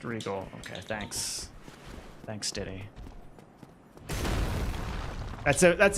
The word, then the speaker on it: Regole: It's pronounced just Regal.